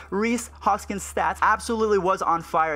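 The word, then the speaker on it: Rhys Hoskins: Maurice Hoskins I said it right I've been saying Rice Hoskins for the longest time but let's go ahead and check out mr. Reese Hoskins stats absolutely was on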